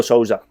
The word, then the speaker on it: Sousa: Is that how you pronounce it? Sousa, yeah.